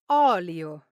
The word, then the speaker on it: olio: The correct pronunciation is oolio. Now the li Io part in olio oil is pronounced soft and smooth. But sometimes Italians tend to blur the sounds li i and gl i lie and lee, especially when they speak fast.